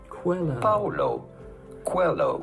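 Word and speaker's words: Paulo Coelho: to pronounce that how do you go about pronouncing his name Paulo Quello Paulo Quello pretty straightforward once you know Paulo hello cuello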